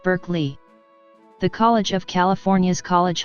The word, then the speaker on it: Berkeley: The philosopher's name is pronounced Barclay, but the city's name, to accommodate American English, is pronounced Berkeley.